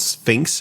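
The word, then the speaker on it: SPHINCS+: One of them is called Sphinx and that's spelled F SP H I N CS+.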